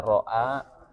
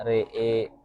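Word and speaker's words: رأى: Contohnya kalau di kata ro'a bacanya re'e kayak gitu.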